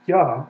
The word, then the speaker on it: Yah: It is ah, a vowel, ah. Okay? If we want to look at it in the Hebrew Bible, Exodus 15:2, right there it is, ya.